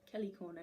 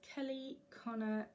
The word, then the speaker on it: Kelly Connor: And again, Kelly Corner Designs. I've been saying it wrong again. Kelly. And and again that is Kelly Connor Designs.